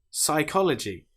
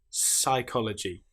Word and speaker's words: psychology: Or how about the example of the letter P when it comes before the letter S? Psychology, psalm. Here we don't pronounce the P at all. We just pronounce the S sound. Psychology, psychiatry. The P is completely silent.